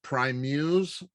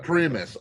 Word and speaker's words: Primus: with i want to say it right with prime muse chamber orchestra chamber orchestra primus okay it's called the aristocrats with primus chamber